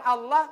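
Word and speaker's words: الله: warahmatullahikan Kenapa susah bilang Allah karena tidak tepat pengucapan huruf lamnya di mana itu lidah huruf lam di langit-langit depan dekat gigi tapi jangan sampai menyentuh gigi la makanya sebut Allah Allah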